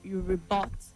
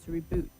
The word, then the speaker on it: rebut: You rebut and not reboot.